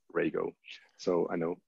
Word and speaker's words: Rego: announced since then radio I used to say regal and actually pronounced Rago so I know it's a bit strange especially